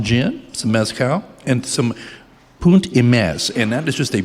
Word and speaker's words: Punt e Mes: And the name Punt e Mes is pronounced as I say Punt e Mes and it translates to a point and a half in the Piedmontese dialect.